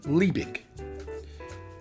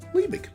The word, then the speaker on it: Liebig: I looked it up otherwise I would have been pronouncing it the way it's spelled lie big you know like you